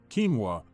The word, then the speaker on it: quinoa: Quinoa, pronounced quinoa, is a very nutritious and adaptable grain-like